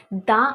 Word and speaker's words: the: ठीक है, अभी दी जब बोलेंगे, दी कहाँ बोलते हैं हम लोग? वॉवल्स का सामने हम लोग क्या बोलते हैं? दी बोलते हैं।